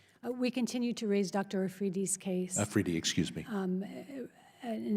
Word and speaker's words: Afridi: Shifting to Pakistan, any chance that the doctor who helped us, I believe his name is pronounced Dr. Ahmadi, is going to be released? We continue to raise Dr. Afridi's case.